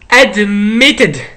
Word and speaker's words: admitted: It should be like admitted, admitted, admitted, okay? Admitted, admitted, tid. At the end, it should end like tid, admitted. Okay, good, everyone, good, very good job.